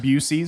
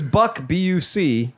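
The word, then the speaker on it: Buc-ee's: love the people that intentionally Mis mispronounce it bues bues my favorite I just think it's funny that it's Buck Buu oh yeah hyphen EES yeah for for years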